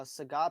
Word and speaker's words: Sagat: bison in that order i know he's called uh sagat but i like to call him saggit like um bob saget they pronounce him as